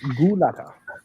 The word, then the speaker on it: Gulata: It's Gulata. And if he tells you otherwise, just tell him it's Gulata.